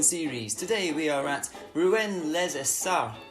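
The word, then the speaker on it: Rouen-les-Essarts: Today we are at Rouens les Essarts, is the French pronunciation of it, and it's a 4.06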